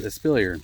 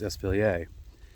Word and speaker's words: espalier: And then the last commonly used type of pruning is called espalier, or sometimes pronounced espalier.